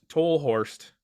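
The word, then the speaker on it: Tolhurst: famously uh i think lowell tour toll horst is how you say it tallerst is probably the most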